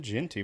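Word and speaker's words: Jeanty: Genenti? How do you say his name? Ashton Genty, baby.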